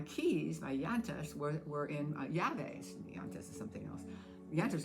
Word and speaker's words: llaves: my llantas, were in llaves. Llantas is something else. Llantas are your tires. Your llaves, which is double L. Notice that you pronounce that with a Y.